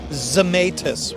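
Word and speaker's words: Zemaitis: hey check one two how do you pronounce the name of that guitar zamus originally made in England where a Tony zamus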